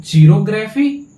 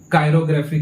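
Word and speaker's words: chirography: तब उसको क्या बोलेंगे, तो चीरोग्राफी या फिर कायरोग्राफी। दोनों इसका प्रोनाउंसिएशन होता है मेरे भाई। चीरोग्राफी भी पढ़ते हैं और क्या पढ़ते हैं, कायरोग्राफी भी पढ़ते हैं। ठीक है, इसमें कोई कंफ्यूजन नहीं।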